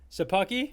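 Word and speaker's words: Szapucki: u c k i i have the uh pronunciation guide open thomas that's probably that's probably your best bet it's sabuki sure okay thomas a pucky so thomas sapucky uh right now for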